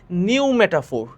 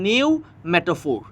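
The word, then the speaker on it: pneumatophore: শ্বাসমূলকে ইংরেজিতে বলা হয় নিউমেটাফোর। এখানে পি এর উচ্চারণ হয় না, যদিও প্রথমে একটা পি আছে, কিন্তু পি এর উচ্চারণ হয় না, এখানে নিউমেটাফোর এতটুকু পর্যন্ত উচ্চারণ হয়।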